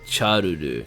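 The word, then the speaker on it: シャルル: Charuru, yeah, okay. I get it. Yeah, it's a bit weird, but that is how you say Charles in Japanese. You don't have the S for some reason.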